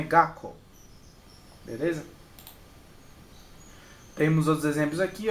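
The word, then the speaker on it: 学校: Ó, Gakko, Gakko. Você vê que aqui tem outro tsu, né? Só que como eu falei antes, é só dobrar. Ou, então é só o na pronúncia. Então é Gakko.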